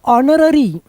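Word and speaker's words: honorary: तो ऑनरेरी तो यह ऑनरेरी नहीं है। इसका एच साइलेंट है। यह जो है ना एच यहां का साइलेंट है।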